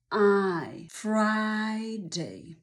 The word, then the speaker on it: Friday: muszą być szeroko otwarte i powtórz pięć razy Friday Nie bój się szeroko otworzyć ust wypowiadając i